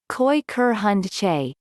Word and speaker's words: Kooikerhondje: quicker hand g as pronounced koi ker hun che and means little duck